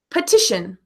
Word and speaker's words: petition: my vitamins vitamin we can also hear the schwa with an e vowel like petition petition and let me write that word in the chat here petition ha uh right that P E is pronounced with the schwa petition great job Eduardo